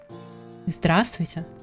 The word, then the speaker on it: здравствуйте: And the end is здравствуйте.